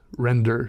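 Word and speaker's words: Rendr: for a long time was a uh Crescent render Sketchbook and it's spelled re ndr I bought mine on Amazon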